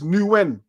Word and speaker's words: Nguyen: Man gave us the pronunciation. It's Nguyen.